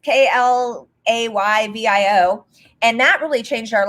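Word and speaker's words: Klaviyo: So first of all, honestly, I don't know if it's pronounced Clavio or Clavio, because people say it differently, but it's Klayvio.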